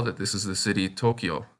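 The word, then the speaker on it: 東京: You can probably tell that this is the city Tokyo. When the Yo kana is written small like that next to the Ki kana, it is pronounced Kyo instead of Kiyo.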